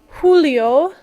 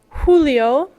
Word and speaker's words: julio: Mayo Mayo H H Julio Julio notice J's are pronounced more similar to H's in English Agosto Agosto sept sept